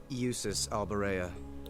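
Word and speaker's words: Jusis Albarea: respect you deserve usus albera usus okay so that's how you say it I was totally saying it wrong not that I'd expect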